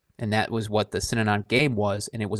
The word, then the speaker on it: Synanon: Can you pronounce the name for me again? The Synanon. The Synanon. Synanon.